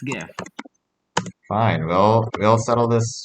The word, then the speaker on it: GIF: going off of what gif actually means graphic interchange format all right it's a hard g graphic not traffic wait oh okay yeah